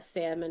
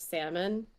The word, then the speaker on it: salmon: of Georgia, was that salmon is pronounced salmon. Everyone growing up called it salmon.